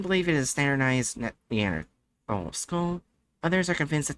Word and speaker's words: Neanderthal: It's pronounced Neanderthal. Neanderthal.